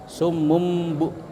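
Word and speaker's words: صُمٌّ: Iqlab itu membalik atau menukar atau mengganti. Jadi tanwinnya itu diganti dengan mim. Ya, summum. Ya. Jadi itu bacanya iqlab, diganti dengan mim sukun, bukan nun, tapi tulisannya tanwin.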